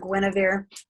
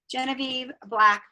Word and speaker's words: Genevieve: It's not Guinevere. Genevie. I'm not saying it right. Black. Genevieve Black.